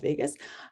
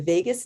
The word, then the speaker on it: vagus: nerve sounds like las vegas um but it's spelled differently so the vagus nerve so that is a